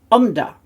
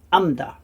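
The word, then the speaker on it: עָמְדָה: Right, now, often with the kamatz there, it can be actually read as umda rather than amda. Sounds very similar, but when it's a closed syllable, the kamatz often is changed to an O sound.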